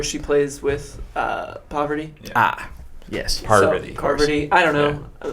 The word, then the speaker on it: Parvati: I always thought her name was Parvati. Parvati. It's like 2 R's.